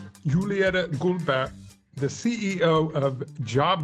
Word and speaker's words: Juliette: Okay, I will say it in French because it's a French name.